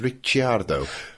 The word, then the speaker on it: Ricciardo: CI in Italian is pronounced ch, so it's Ricciardo.